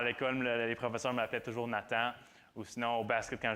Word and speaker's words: Nathan: C'est comme la façon de le dire anglais-français, parce qu'en anglais, c'est Nathan. Mais le TH, c'est dur à prononcer, alors on dit Nathan. Mais sinon, à l'école, les professeurs m'appelaient toujours Nathan.